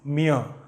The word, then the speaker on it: mir: For ich it is mir. Okay, mir. It is not mir. The letter R is silent when it comes in the end of a word.